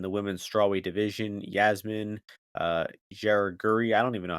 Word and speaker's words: Jauregui: Yasmin Jauregui, I don't even know how to say her name quite yet. Sorry, Yasmin. Yaraguri, There you go. Yaraguri.